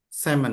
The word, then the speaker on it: salmon: Semon. Samon. Samon. Iya betul ya bacanya semon ya. Tulisannya salmon. Memang artinya ikan salmon tapi bacanya semon ya untuk bahasa Inggrisnya ya.